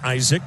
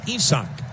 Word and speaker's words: Isaac: You spell his first name like you would spell the name Isaac, but he is from Mexico and it is not pronounced Isaac. It is pronounced Esachch.